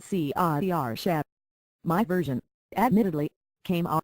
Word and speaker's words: Saoirse: with his lips and pronouncing it See-ah-er-sha.